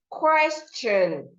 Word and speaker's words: question: So the T here makes the sound, question, question, not question or question.